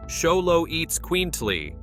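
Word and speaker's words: Xoloitzcuintli: Number 12, Zoloitz Quintley. Pronounced Xolo eats quintly, the Zoloitz Quintley is more than a dog.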